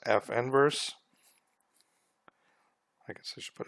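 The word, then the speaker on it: f⁻¹: The inverse function of f is written as f, and then it looks like it's an exponent, f negative 1, but we would pronounce this as f inverse.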